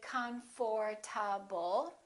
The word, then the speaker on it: comfortable: how to do it we don't say comfortable this is what happens the O disappears but then there's one